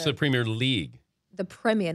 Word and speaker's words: Premier League: soccer snob on me correcting me on my pronunciation so it's not the premier ship no no no no it's the Premier League the premier not Premier Premier Premier Premier correct